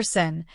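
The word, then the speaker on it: שׂ: Letter Sin, pronounced like the English s as in sun.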